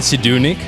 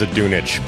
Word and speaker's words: Zdunich: Did I say it right, Zdunich? Isn't English a word, isn't it? No, it's Croatian actually, and I believe it's Zdunich, but I could be saying it wrong.